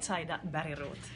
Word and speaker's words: Zaida Bergroth: Si chiama Zaida Bancroft. But please pronounce it in Finn, because I don't know, it's totally different. No, it sounded very good, but in Finland we would say Zaida Bancroft.